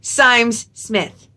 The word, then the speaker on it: Symes Smith: this TBR, because I had to message them to ask how to pronounce their last name. Hi, Esme! So, I will be reading Sir Cali and the Champions of Helston by Esme Symes Smith. See, you always got a message to ask for that phonetic pronunciation, because I would have not said that correctly.